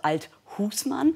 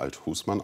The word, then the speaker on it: Althusmann: cdu spitzenkandidat bernd althusmann eine neue betonung seit neuestem legen sie wert auf die betonung auf der zweiten silbe also althusmann letztendlich hat mein vater diesen namen auch immer althusmann ausgesprochen und so spreche